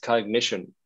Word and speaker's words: Cognixion: to double check it it's pronounced cognition right it is yeah